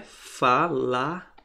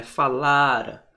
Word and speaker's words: falara: Então, a sílaba tônica não é mais aqui, é aqui. É na paroxítona, então é falara, não é falará.